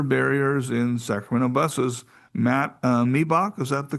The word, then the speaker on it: Miebach: Matt Miebach, is that the correct pronunciation, I hope?